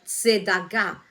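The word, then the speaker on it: צדקה: Es un vocablo que leído se dice tzedakah, con T, Z, tzedakah, con K y acento en la tzedakah, ¿vale?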